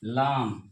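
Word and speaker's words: لام: इसको हम कहते हैं उर्दू में लाम। इसको हम उर्दू में कहते हैं लाम जिसका प्रोनाउंसिएशन होता है ल जिसका प्रोनाउंसिएशन होता है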